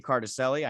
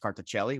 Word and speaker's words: Cartacelli: the listeners yeah so my name is it's cartacelli i know over there it's probably pronounced carticelli which is the correct way to say it but that's uh the way i've been saying it my whole life so uh i'm 27